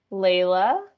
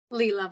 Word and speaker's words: Leela: have a hand up layla am i pronouncing your name right leela but that's lovely i'm